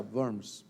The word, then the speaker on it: Worms: la dieta de Worms, que dice Andrés que se pronuncia Worms porque es en alemán.